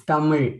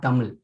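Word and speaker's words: தமிழ்: It is also found in the word Tamil. Okay. Which normally people who have Hindi as their language or any other North Indian language cannot easily pronounce. Which is it? The Ra, actually, the Ra, they say. A type of La, Ra. It's Tamil, not Tamil.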